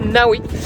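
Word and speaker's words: Ngawi: dans le village de ngaoui apparemment on le prononce Naoui un petit village de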